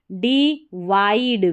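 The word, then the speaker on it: divide: tick Ali systematically systematically D वाइड वी आई डी ई को वाइड पढ़ना है विड नहीं डिवाइड it's spelling S पी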